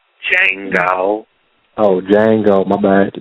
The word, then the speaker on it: Django: No, the D is silent. Django.